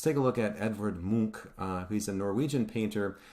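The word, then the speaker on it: Munch: now let's take a look and it's not pronounced MCH uh just make sure that this is coming from Norway and so it's pronounced Mo uh let's take a look at scream so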